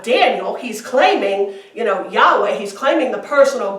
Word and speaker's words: Yahweh: this is the Tetragrammaton which we pronounce Yahweh which actually is unpronounceable yo cave of hey